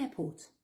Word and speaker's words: airport: Le E de the se prononce the parce qu'il y a une voyelle derrière et dans airport, ne prononce pas les deux R. The airport.